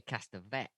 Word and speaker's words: Castevet: named Roman and Minnie Castevet. Castevet? I say Castavet. Castevet. I'm going to say I think that's how they Castevet then. pronounce it in the film.